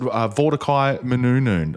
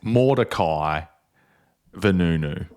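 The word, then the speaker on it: Mordecai Vanunu: Mordecai Menunun. I don't know if I'm pronouncing that name right, but he was the great whistleblower on this.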